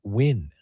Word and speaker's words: Win: And NG, they pronounce it because his last name is spelled Nguyen, pronounced Win.